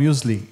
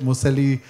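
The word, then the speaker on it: muesli: of a category called musle yeah where you know it's a a category often mispronounced in India people don't know the term they can't produce pronounce it museli they say all sorts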